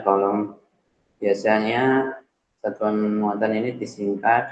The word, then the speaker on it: coulomb: Kemudian satuan muatan dinyatakan dengan kolom. Tulisannya coulomb. Peraturan B coulomb atau dibacanya kolom.